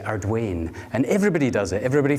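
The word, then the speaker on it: Arduaine: Brodach, Inverewe, and we're going to end with Arduni, and that's how you pronounce it. When I first went to Arduni, most people, like the lady that introduced me, sorry, you say Ardwain, and everybody does it.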